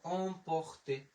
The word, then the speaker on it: emporter: আবার এখানে পে ওতে আমরা নিলাম হচ্ছে প, একের উচ্চারণ আমরা নিলাম হচ্ছে র, আর তের উচ্চারণ আমরা নিলাম ত, তাহলে হয়ে গেল emporter, emporter।